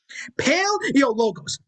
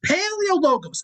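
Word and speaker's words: Paleologos: i want you to say it with me pale yo logos paleo logos pale like your last name pales in comparison to mine eo as an equal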